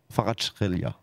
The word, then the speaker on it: Kvaratskhelia: Comme ça, 2,15, le but de Khvisha Kvaratskhelia. Comme ça que ça doit se prononcer.